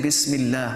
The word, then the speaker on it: Bismillah: In this case, because it is preceded with a kasra, so we would say Bismillah, we would not say Bismillah, because there is a kasra before it.